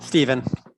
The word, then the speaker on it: Stefan: thank you stefan um am i pronounced stephen or stefan stephen stephen okay wonderful thank you so much for having me hello district 20.